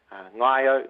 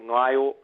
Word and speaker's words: Ngaio: Classic ones, I think, have to be ones like Paraparaumu, which is Paraparaumu, Ngaio, Ngaio, Ararua, which is Ararua.